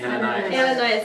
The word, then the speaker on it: Ananias: Ananias, okay, I got it right.